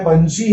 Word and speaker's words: पंछी: च के बाद छ आता है, पंछी है, तो छ के पहले इसका उच्चारण हो रहा है, इसलिए यह बिंदी य का उच्चारण करेगी।